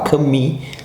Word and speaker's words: Camus: ou Camus, sei lá, Camus seria o certo, né? Você pronuncia o U com um biquinho de I, se fosse pronunciar em francês exatamente, Camus.